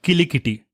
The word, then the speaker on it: Kilikiti: And to start this segment, let's talk about Kilikiti. You heard me right. I'm not talking about Kiliki, which is the language from Bahubali, or mispronouncing cricket. It is Kilikiti.